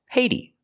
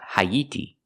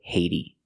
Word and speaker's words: Haiti: American English we say Haiti pronounce the h hey use a long a like say and pay hey the T changes to a fast D ha ha Haiti Haiti